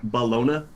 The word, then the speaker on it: bologna: oh yeah no it's ballona there's no g there's no g so it's bologna it's the people autumn